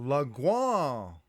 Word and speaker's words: Langlois: Listeners, we were just speaking to Langlois. Did I pronounce it right?